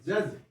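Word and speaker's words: judge: जज बने होता है न्यायाधीश, ठीक है, जी जज, डी साइलेंट है यहाँ पे, ठीक है, ध्यान रखना, जज पढ़ता है इसको, ठीक है, न्यायाधीश।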